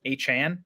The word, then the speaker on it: Achane: it to be Devon a chain at this point I guess by the way it's it's a Chan is how he wants it pronounced that's what I just